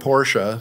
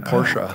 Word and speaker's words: Porsche: I can do it Ferdinand porsa who created the company that's how he pronounced his name porsa I don't know Ferdinand